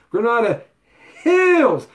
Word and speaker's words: Granada Hills: we're not a Hills Granada Hills you gotta say it like that Granada Hills that's the San Fernando